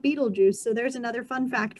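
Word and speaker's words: Betelgeuse: star that's named beetlejuice it's not spelled like beetlejuice like the movie it's spelled like i'm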